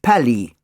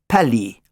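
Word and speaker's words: Palis: "My name is Pally," he said. P-A-L-I-S, pronounced Pally.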